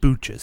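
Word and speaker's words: Booches: like Butch's but pronounced Booch's?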